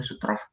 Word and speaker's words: sutrah: Nah, di sini tulisnya sutrah ya, tapi dibacanya itu sutroh karena huruf ro ya.